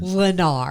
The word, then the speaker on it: Lennar: Courtney, how do you say that word? Lennar. Oh, thank you, Courtney.